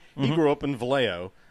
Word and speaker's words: Vallejo: say we were open vallejo Valley Joe for those who don't know how to say it which is the same